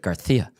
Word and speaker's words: Garcia: It was somebody said their neighbor's last name was Garcia, but they pronounced it Garia. Gar. And they insisted on it. Garia. They're Spanish. Garcia.